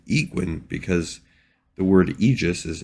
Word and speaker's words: Aegwynn: Now, the pronunciation here, some people might say Aegwynn. You could also go with Aegwynn because the word Aegis is A-E-G-I-S.